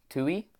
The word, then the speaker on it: tu: Then we have tui. I remember this word because it rhymes with you.